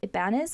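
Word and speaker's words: Ibañez: together we burn by Isabel Ibanez I think is how you say her last name but this is a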